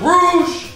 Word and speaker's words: rouge: You know what rhymes with rouge? Lose!